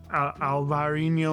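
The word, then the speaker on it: Alvarinho: north of Porto typically grapes that in Spain are referred to as Albarino the Portuguese call it alvarino or it's similar it's a similar pronunciation you've probably heard of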